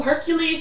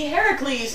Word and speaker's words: Heracles: No, Hercules is the Roman pronunciation. It would be Heracles in the Greek.